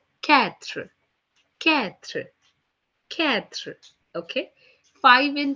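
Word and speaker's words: quatre: being pronounced as thwa four in French is being written down as q-u-a-t-r-e which is being pronounced as ketra Catherine Catherine okay five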